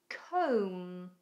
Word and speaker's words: comb: Containing a silent B, we have comb.